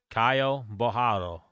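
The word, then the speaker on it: Caio Borralho: Kyle Bohio is how he pronounced it.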